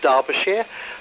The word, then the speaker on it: Derbyshire: it's it's actually pronounced derbyshire um i i used to live very close to derbyshire um even though it's not spelt like that as with so many things from the uk but there we are